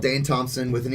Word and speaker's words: Thompsen: Just Dane Thompson. Thompson is spelled Thompsen instead of SON because my family's weird in Danish.